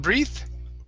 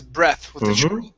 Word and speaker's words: breath: to the word breath instead of breathe okay this is breath try that breath okay okay